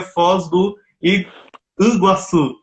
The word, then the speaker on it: Foz do Iguaçu: do iguaçu na verdade a pronúncia correta seria foz do iguaçu mangu significa muitas águas